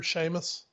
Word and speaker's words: Sheamus: and the Celtic Warrior Sheamus see how I did that for you see how I did that for you well that's how it's actually pronounced so exactly that is actually how it's pronounced um it was a